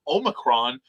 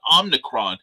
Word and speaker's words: omicron: mine he's really anal about this apparently it's pronounced omicron not omnicron yeah it is i i i don't know